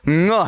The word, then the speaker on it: ङ: लेकिन बाद में समझ में आया, तब ये ध्यान लगा कि इसका उच्चारण ड़ नहीं है। मैं पहले ही बता चुका हूं इसका उच्चारण क्या है? ङ है।